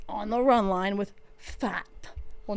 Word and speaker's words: Pfaadt: Also, they're seeing opposing pitcher Fat. Is that how you say his name? Brandon Pfaadt. Pfaadt.